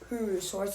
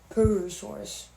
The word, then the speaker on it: Purussaurus: spinosus Dilophosaurus I purussaurus I heard another calling for purusa saus it's puru purussaurus plaur history I our planet